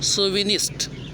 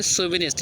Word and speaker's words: chauvinist: ये CH से शुरू होता है लेकिन सो पढ़ा जाता है, सोविनिस्ट। अगला शब्द है सोविनिस्ट, स्पेलिंग CHAUVINIST, सोविनिस्ट।